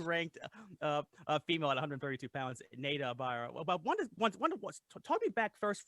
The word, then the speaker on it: Neida Ibarra: So it's pronounced Neida Ibarra.